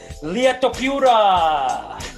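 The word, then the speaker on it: Ilia Topuria: Llia Topuria.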